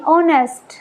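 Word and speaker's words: honest: यहां देखेंगे एच ओ एन ई एस टी ऑनेस्ट। यहां पर जो एच है वो साउंड देगा ह की। बट ऑनेस्ट इस वर्ड के अंदर जो एच है ये साइलेंट रहेगा। हम बोलना शुरू करेंगे ओ से।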